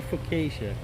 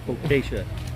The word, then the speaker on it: focaccia: you'll be all right well kasia fuckasia oh it's just a focaccia that would be closer i don't know it's